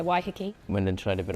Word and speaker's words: Waiheke: Waiheke Island. Is that how you say it? That's so nice, yeah, Waiheke.